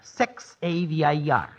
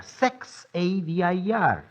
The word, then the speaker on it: Xavier: Well, it is pronounced Xavier sex a vir. Uh, let's run over that once more lightly, please. Xavier sex a vir. You see, in Spanish, the letter sex is silent.